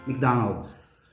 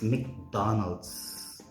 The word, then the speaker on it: McDonald's: MacArthur right um but if it is MC native speakers would usually say Mick so this company or this product is actually correctly pronounced as McDonald's or Mick it's McDonald's okay something to learn